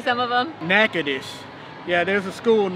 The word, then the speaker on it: Natchitoches: Natchitoches. Yeah, there's a school in northwestern Louisiana. This is Natchitoches?